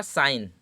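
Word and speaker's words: sign: क्या कह रहा है एन से पहले अगर जी लिखा होता है तो जी पराया साइलेंट रहता है क्योंकि हमारा साइन देखिए मैंने डिसाइड हो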